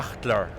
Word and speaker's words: Sachtler: It's the English pronunciation. How do we say Sachtler? Sachtler. Sachtler. Yeah, Sachtler. Deep but German accent.